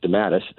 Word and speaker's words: DeMatteis: And he stayed on for several issues, and then if I might correct your pronunciation, excuse me, Mark DeMatteis, or J.M.